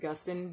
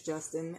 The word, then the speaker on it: Gustin: it's called Justin um I kind of pronounce it Gustin but I think it is Justin and there it is